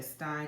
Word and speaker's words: Epstein: So it's Epstein. I'm gonna say Stein because that's really to me the proper pronunciation actually of his name, y'all.